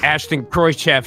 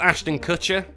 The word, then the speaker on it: Ashton Kutcher: of a sudden as ashton kroychef steps out i think it's ashton kutcher he's saying his name wrong i don't know why